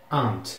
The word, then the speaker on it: aunt: Tio se pronuncia uncle. Uncle. U-N-C-L-E. Uncle. Isso é o tio. A tia é aunt.